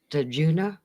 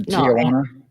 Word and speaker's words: Tijuana: Herb Albert, and I can't pronounce that. Tajuna brass band. What? Herb Albert? Yeah. No, Tijuana. Oh, Tijuana. Okay, Tijuana.